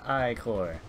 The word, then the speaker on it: ichor: I can fill it with magical ichor. That's pronounced I-cor.